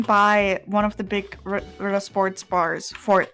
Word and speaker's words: Ritter Sport: No, if it was Ritter, or Rita, it would be Rieter. But because it's it's two T sounds, it's literally like you have to pronounce it as if there's two T's.